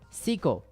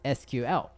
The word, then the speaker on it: SQL: honorable mention number three Seco with some people pronounce as SQL if you search for